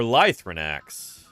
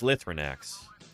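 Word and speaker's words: Lythronax: Lithrinax. Or Lithrinax. I've always heard it pronounced Lithrinax.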